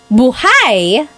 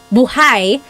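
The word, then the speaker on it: buhay: If you say buhai, the emphasis is on the second syllable. Buhai.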